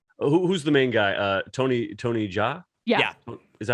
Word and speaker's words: Jaa: Tony Jaa? Yeah. Is that how you pronounce it, Jaa?